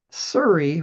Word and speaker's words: Seuri: known to be highly blight resistant include Korean Giant, Surrey, which is spelled Seuri, Suli, which is spelled Tsuli, and Shinko, which is spelled just like it sounds, Shinko.